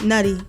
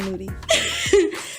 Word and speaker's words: Nudy: who else do we have oh young nudy nutty I keep saying that boy name wrong so out of the he said nudy so if you had to pick any of